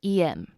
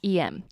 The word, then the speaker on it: em: actually a completely different em and the em in this case is actually the phonetic pronunciation of the letter M and the reason is